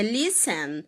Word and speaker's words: listen: Por exemplo, a palavra soften é listen, elas são faladas soften, é listen. Você não pronuncia o T, tá? Soften, que é suavizar em inglês, é listen, que é escutar em inglês. O T continua sendo mudo.